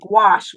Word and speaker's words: gouache: That's why I say um gouache rhymes with squash.